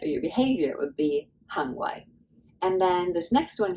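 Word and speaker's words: 行為: So that's just the way to say your conduct or your behavior would be hang wai.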